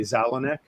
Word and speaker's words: Zalonek: The S is silent, so I will say Zalonek.